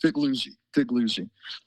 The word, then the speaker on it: Figliuzzi: Are we pronouncing your name right, Figliuzzi? You're close enough, as they say, for government work. It's 3 syllables, Figliuzzi.